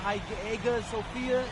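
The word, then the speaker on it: Hagia Sophia: a beautiful architecture over there and the the HA Sophia. If I'm pronouncing that right, it's supposed to be fire.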